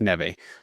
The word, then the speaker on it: Neve: Ne it does is pronounced Nev.